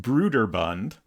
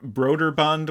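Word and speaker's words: Brøderbund: Bond apparently broer Bund initially within the company was pronounced Brer Bund um but it it I get the impression that broer Bund was the more common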